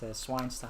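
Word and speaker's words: Zweinstein: Fubuki says Hogwarts is basically pronounced Swinestein. Yeah, Schweinstein.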